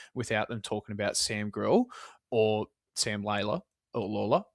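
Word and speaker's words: Grlj: Nah, the guy without a vowel in his last name, it's just Grill. That's it. It's just Grill. That's how you say it, apparently.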